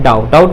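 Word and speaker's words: doubt: क्या जाता है डोंट हो जाएगा क्या जाएगा डाउट मतलब क्या होता है संडे यह भी साइलेंट बट इससे पहले क्या है बी का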